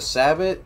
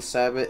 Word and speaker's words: Sabot: reasons I had 1 Sabot head instead of 2 solid was also, I think it's pronounced like Sabo or something, but I just say Sabot.